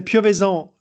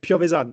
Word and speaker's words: Piovesan: Yeah, we can say Piovesan in French, but in Italian it's like Piovesan, so it works.